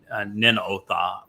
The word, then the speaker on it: Nineveh: near the ancient uh Ninotha uh which was which we would pronounce Nineveh not far from Mosul in today's northern Iraq.